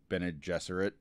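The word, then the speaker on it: Bene Gesserit: about it is the fact that I've been pronouncing bened jesser right since I first picked up the book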